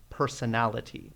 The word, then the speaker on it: personality: more complex words so notice that there are five syllables here make sure that you're pronouncing all of them and not rushing through it personality personality alright nice job